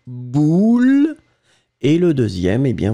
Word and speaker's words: boule: Ici, le premier, vous allez le prononcer comme un ou, boule.